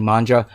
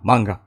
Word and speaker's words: manga: were inspired by manga uh pronunciation probably Manja no manga yeah definitely manga um and um animation